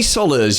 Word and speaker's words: Solas: marketing consult welcome Tony Solas you told me how to pronounce your name that it rhymes with dollars so straight away Tony